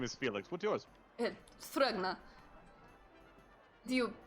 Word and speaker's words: Thrugna: Thrugna. Do you... How do you spell that? Sure, yes. It's a T. You have that? You ready for the next? Then it is an H. Then an R-U-G-N-A. Thrugna.